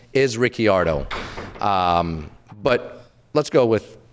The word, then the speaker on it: Ricciardo: we have Daniel ricciardo Ricardo no it's ricciardo it's Ricky his actual last name is ricciardo but they pronounce everything they pronounce it Ricardo I mean what's this